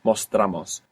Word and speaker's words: mostramos: You're not accenting anymore that O, so it doesn't split. Mostramos.